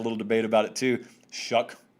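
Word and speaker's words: Shough: debate about it too shuck just ignore the spelling mr shuck was 21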